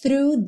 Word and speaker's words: through: meet the ground Crash through the Surface Crash through through linguinha lá no dente da frente e já puxa no R through through o GH não é pronunciado Crash through the Surface